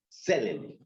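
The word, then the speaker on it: צלם: La raíz de la palabra hebrea para imagen es selem. Selem. Selem. ¿Cómo se escribe? T selem. ¿Sí? Con M al final.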